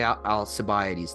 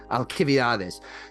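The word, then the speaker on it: Alcibiades: in in first uh they say aliades that's not how you pronounce it in Greek I think it's uh Al alchades is is the the Greek uh pronunciation.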